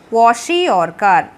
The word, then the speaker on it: kwashiorkor: है वो होता है क्वाशियोरकर। सी the spelling KWA क्वा SHI शी OR और KAR कार, क्वाशियोरकर। The deficiency of proteins in the diet of small children specially causes a disease called kwashiorkor।